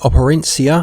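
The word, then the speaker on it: Operencia: have a game called apparent seer I believe it's a soft C the stolen Sun which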